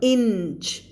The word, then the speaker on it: inch: so explore explored inch อันนี้คือนิ้วไม่ใช่ finger นะ inch ในที่หมายถึงแบบ2นิ้ว3นิ้ว4นิ้วความยาวไม่อ่านว่า inch นะคะอ่านว่า inch มีเสียง n นะ inch town มีเสียง n secret